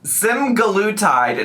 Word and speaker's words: semaglutide: But we are back again to react to Amberlynn's new video, and it is called Day 20 Semaglutide.